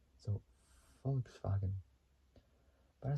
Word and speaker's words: Volkswagen: So Volkswagen, I think I said it right in German. Volkswagen. That's how. Instead of a V, it's with an F at the very beginning. So Volkswagen.